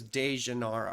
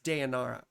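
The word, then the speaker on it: Deianira: deara and nessus or some people mispronounce it as de janara or whatever but it's deara and nessus right so Heracles quickly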